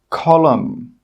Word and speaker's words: column: The letter N is normally not pronounced when it's after the letter M at the end of a word. Some example words are column, autumn, solemn, condemn, hymn.